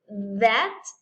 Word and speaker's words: that: And then we have TH, but with vibration. Esta TH si tiene vibración y ponemos ese símbolo de como que si hay una vibración, porque la vibración se produce aquí en nuestra garganta y si tocamos nuestra garganta, bueno, ahora sí con la vibración, si le damos tantita vibración, por ejemplo, con la palabra that, entonces sentimos un cierto